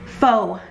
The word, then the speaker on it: faux: now anyway so yes this faux is pronounced faux nails faux nails pretty much